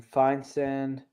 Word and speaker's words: Feinsand: That's from Feinsand.